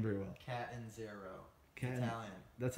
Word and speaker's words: Catanzaro: Catanzaro.